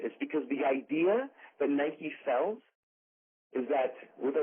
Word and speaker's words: Nike: It doesn't say Nike, which also should be pronounced Nike, right?